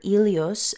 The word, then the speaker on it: Helios: our attention on Helios Helios or elos as it's pronounced in Greek is often depicted with